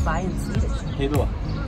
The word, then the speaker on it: Hej då: Hej då. Hej då.